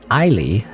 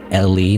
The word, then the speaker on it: Eily: No, Eily. I don't know why I keep forgetting how to say the nickname. Eily. Not Ellie, not Eli, not Elu.